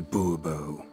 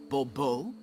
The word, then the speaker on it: Bobo: Bobo fine Monsieur de bubo the emphasis falls on the last syllable Bobo mm-hmm see now I'd